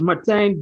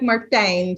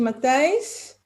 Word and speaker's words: Matthijs: I don't know, but when you pronounce it, always sounds like Martijn. So I'm not sure if you're saying Martijn or if it's just a weird pronunciation of Matthijs.